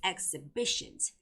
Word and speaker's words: exhibitions: So it's exhibitions. Okay? So exhibitions. B has the stress.